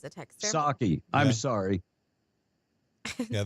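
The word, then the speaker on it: Psaki: yeah and it's Jen saki Kevin like the drink says a text saki I'm sorry yeah the p is silent I I can I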